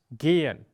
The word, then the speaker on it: gehen: The H very often coming after a vowel is muted, but simply makes the vowel longer.